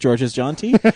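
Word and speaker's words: Georges Jeanty: And so we talked to George's, and we found out his name is pronounced George's John T, which we were always really concerned about.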